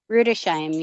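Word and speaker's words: Rüdesheim: That's how you say it, Rudesheim? Rudesheim, yep. Rudesheim. All right.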